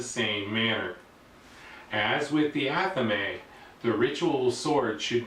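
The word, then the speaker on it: athame: aame although some people may pronounce it as aami I pronounce it aame the aame is a small blade that is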